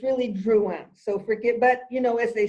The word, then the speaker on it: Drouhin: No, this just says Drouhin, and it's Drouhin, correct? It's Domaine Drouhin. Yes. Drouhin, Vaudon, 2018 Chablis, Joseph Drouhin. Okay. But I mean, in America, we always say Drouhin, right? But it's really Drouhin.